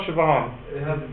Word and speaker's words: Siobhan: know how spell some of these Irish names sioban how do you spell Siobhan it has a g in it it must